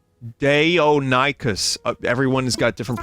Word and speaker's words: Deinonychus: Day or night, cuz. That's how you say it.